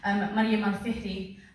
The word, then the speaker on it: Mariam al-Fihri: So one of those women, of course, is, I'm just going to say it properly because I never do it, Mariam al-Fihri, and her sister, there you go, Fatima al-Fihri.